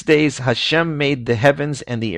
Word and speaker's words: Hashem: 4-letter name of God, which Jews pronounce as Adonai in the course of blessings and when reciting the Torah. and in other circumstances generally pronounce it as the word Hashem, which is a very well-known word in certain circles.